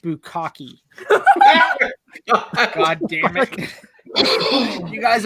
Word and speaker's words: bukkake: It's pronounced bukkake.